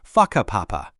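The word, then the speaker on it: Whakapapa: You'll hear locals occasionally talking about places like Waka Papa, pronounced Faka Papa.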